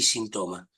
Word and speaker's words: sinthome: transmito algo de psicoanálisis la hago entre síntomas y sintoma como no puedo pronunciar la H pero la H está escrita cuento con la posibilidad de no acentuar de no hacer una palabra esdrújula síntomas es una palabra